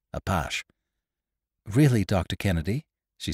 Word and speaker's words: Apache: Craig gave it its gallicized pronunciation. "Apache."